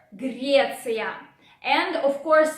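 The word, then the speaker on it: Греция: Sound R is again a bit challenging, so pay attention to it. Don't forget to roar. Grecia.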